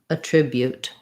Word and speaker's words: attribute: So we have the I vowel in my main syllable. Sounds like trib, or you might even start from rib, trib. And then this BU, this U has the U sound. So a glide and the U, not just an U sound. So trib, ute, attribute.